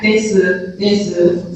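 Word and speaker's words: です: So yeah, you can say desu. And some certain people say desu. Some people strongly pronounce su sound, u sound as well. So it really depends on the person, but yeah, for natural, if you say this, at the end, you skip the U sound and make it shorter.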